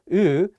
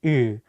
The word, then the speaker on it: 으: The vowel 으 has the same tone position as the Korean vowel 우, but the shape of your mouth is wider.